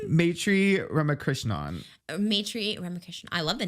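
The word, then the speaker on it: Maitreyi Ramakrishnan: Maitri Ramakrishnan.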